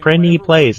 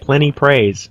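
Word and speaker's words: Prinny Plays: course plenty price see I did it again brendi plays not plenty praise let's start pronouncing it plenty plays and then I don't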